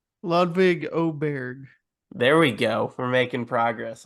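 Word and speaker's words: Ludvig Åberg: quick question Christian have we learned how to pronounce ludvig's name ludvig oberg there we go making progress on this podcast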